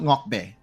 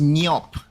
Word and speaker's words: Niop: As we can see, I do have notes on how to pronounce it's not Ngokbe. I think it's, let me check. It is pronounced Niop.